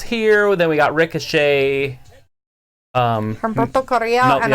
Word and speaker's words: Humberto: Roll your R's. Don't just roll them from Humberto. You roll it for Andrade too.